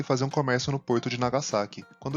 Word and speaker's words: Nagasaki: E o som do japonês representado pela letra S tem pronúncia com som de S mesmo, e não de Z, como muitas vezes ouvimos. Como por exemplo, a cidade de Osaka e não de Osaka, e de Nagasaki, não Nagasaki.